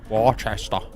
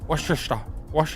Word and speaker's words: Worcester: Worchester. Ah, not Worcester. Worester.